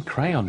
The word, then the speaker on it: crayon: It's spelled C-R-A-Y-O-N. In British English, it would be crayon. They are novels, they're novelettes. It's in crayon, you book. And in American English, it would be more like crayon.